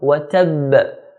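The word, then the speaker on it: وتب: Ba at the end has a shadda, so we hold it and then make a knocking sound, bouncing sound, because ba is one of the letters of qalqalah. Abi lahabi wa tab, wa tab. So hold the ba, wa tab, then knock it ba, wa tab.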